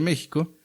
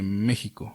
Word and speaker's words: México: Mexica quiere decir, el nombre de mexica viene de México o México. Entre los nahuas o los que hablan el náhuatl, la X se pronuncia como sh.